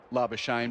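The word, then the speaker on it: Labuschagne: Uh it sort of he he's told varying stories but he he preferred Labashane because I don't think he liked the fact that the majority of Australians couldn't pronounce Labknney.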